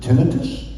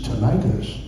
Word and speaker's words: tinnitus: how to pronounce it tinnitus you know American is tinnitus but I'm from Canada oh baby you do say tinnitus actually both pronounce correct I discovered I had